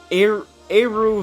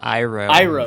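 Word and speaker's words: Airu: It's called Monster Hunter Poka Eru Village. Close. Close? It'd be do you know how it's actually pronounced? Iroh Village.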